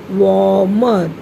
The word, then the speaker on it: warmer: ing, flying, to a warmer, W-A-R, war, M-E-R, mer, warmer. Here R is silent, children. We should not give stress to R.